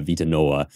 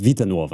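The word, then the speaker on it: Vita Nuova: the episode which is called Vita Nova or Vita Noah depending on how you want to title it but Vita Nova is usually how it's said it means the new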